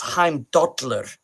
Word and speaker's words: Heimdallr: When we talk about like Heimdallr, but now in modern Icelandic it's Heimdallr. It's a tick on the side of the teeth, Dallr.